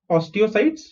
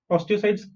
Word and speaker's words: osteocytes: different organs like osteocytes okay how do you pronounce this os is us people cyt is sites so osteocytes osteocytes bone cells they are liver cells liver cells